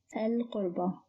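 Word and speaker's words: القربى: Originally it is qurba, which means relatives, and it starts with qaf, which is a moon letter, so it is pronounced as al-qurba. No change here.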